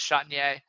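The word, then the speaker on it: Chatagnier: Peyton Chatier, I think is how you pronounce it. So again, I think it's Chatinier, but it yeah. is Yeah. Chatier. Now that I heard you say it, it is Chatier.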